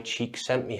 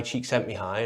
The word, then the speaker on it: Csikszentmihalyi: There's a great book here by Mihai Csikszentmihalyi. I got it right this time. If you've seen the other video, I couldn't say his name. His name's Mihai Csikszentmihalyi, and this book's called Flow, and it talks